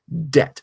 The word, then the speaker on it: debt: It had become debt over 1,000 years of natural change. But when people first wrote the word, they said, well, we know this word comes from debita, so let's put a silent B into debt. And that's how the modern spelling D-E-B-T emerged.